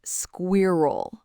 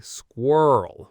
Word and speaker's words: squirrel: The problem is the R. Learners say squirrel, which sounds logical, but native speakers say squirrel with a really weird specific pronunciation of that R sound.